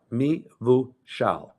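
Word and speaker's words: mevushal: just so that and it's pronounced exactly the way it's spelled m-e-v-u-s-h-a-l me Vu Xiao uh any wine that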